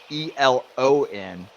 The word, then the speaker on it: Elon: so you must be near also um not Elon school but Elon University Elon college wait there's